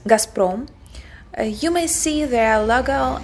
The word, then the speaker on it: Gazprom: Here we pronounce it as Gazprom.